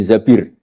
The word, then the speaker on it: Zabir: Kemudian saya nikah sama Abdurrahman bin Zabir. Di hadis ini bukan bacanya bukan Zubair tapi Zabir.